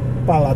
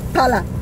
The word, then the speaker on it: para: It's para with an R. Pala tortillas. Pala or para? Para. With an R, para. You know how to roll your R, Josh? Yep. Put your, the tip of your tongue up behind your teeth, like in the roof of your mouth, and say a D.